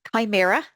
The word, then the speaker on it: Chimaera: And as always, the latest release, Chimera, if you're wondering how to pronounce it, landed on Monday morning.